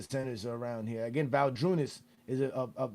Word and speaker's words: Valanciunas: Again, Valanciunas. Is it Valanciunas?